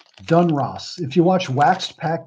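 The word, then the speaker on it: Donruss: That's right, Dun Ross. Dun Ross.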